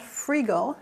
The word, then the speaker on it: Freegal: is yes it's called freegle spelled f-r-e-e-g-a-l rhymes with eagle and it is a